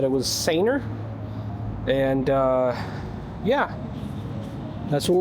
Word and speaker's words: Sanooer: Uh, I was corrected on the pronunciation. They said it was Ser.